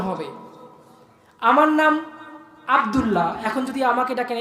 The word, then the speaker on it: আব্দুল্লাহ: আস্তাগফিরুল্লাহ না, আস্তাগফিরুল্লাহ, গয়ন উচ্চারণ হবে। আমার নাম আব্দুল্লাহ, এখন যদি আমাকে ডাকেন এ আবুল্লাহ আবুল্লাহ, আমি কি ডাক শুনবো?